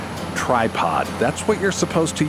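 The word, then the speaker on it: Trypod: clever word play uh those two words of course sound identical to the ears but they're spelled differently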